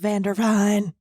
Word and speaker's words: Vanderveen: It's pronounced Vandervine. Vandervina.